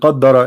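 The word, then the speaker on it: قدّر: Qadara and qaddara is different. This is why the pronunciation is different.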